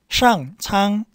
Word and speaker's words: 上苍: 상 할 때는 혀를 말고 권스름이고, 창은 설치음, 쯔츠스, 그죠? 상창, 상창, 요 발음 연습하세요.